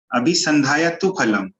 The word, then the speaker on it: अभिसंधाय तु फलं: राशि जानना है है तो इसका उच्चारण जो है जनरली जो देखा गया आप लोग सुखी अभी संधायक तू फलम अभिसंधाय तु फलं ऐसा होना चाहिए जो